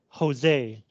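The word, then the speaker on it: José: bella is married to Jose by the way the name this name is Spanish so you pronounce it Jose in Spanish J sounds the same as H number four people are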